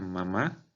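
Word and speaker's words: 麻: Por ejemplo, esta palabra en primer tono, ma, significa mamá. Esta palabra en segundo tono, ma, significa cáñamo.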